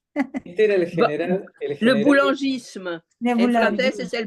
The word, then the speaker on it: boulangisme: Que lo pronuncia Mari. Este era el general. Le boulangisme.